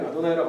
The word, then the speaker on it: 아도나이: 아도나이를 유태인들의 전통이 이 단어를 아도나이라고 발음했으니까 요거의 이 단어의 의미인 주님이라고 하는 단어로 그냥 번역해 놓자가 이제 표준세 번역이 한 방식이죠.